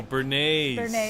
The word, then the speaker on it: Bernays: named Edward L um I always say his name wrong but it's Ben benjley I think Benji that's how you say it b-n-g-y no Bernays Edward Bernice you know he